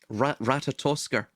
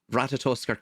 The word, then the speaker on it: Ratatoskr: Ratatoskr, I believe Mm. is how you pronounce it.